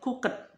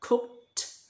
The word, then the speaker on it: cooked: Nah, misalnya ibuku memasak kemarin, ya jangan my mother cooked begitu ya, tapi my mother cooked yesterday. Tambah ed. Tapi membacanya tetap cooked pakai t atau d.